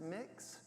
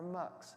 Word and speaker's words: Mx: it is mx the letters mx and it's pronounced mix mx or mux and many non-binary and intersex individuals use this